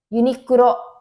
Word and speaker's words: Uniqlo: Uniqlo pengucapannya seperti itu.